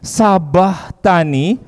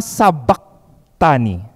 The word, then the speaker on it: sabakhtani: Eli lama Sabak Tani Jadi kalau ada yang masih membacanya menyuarakan dengan Sabah Tani keliru membacanya adalah Eli Eli lama Sabak Tani Oke kita ucap bersama-sama ya Eli Eli lama Sabak Tani jadi nggak pakai Sabah Tani Bukan gitu ya karena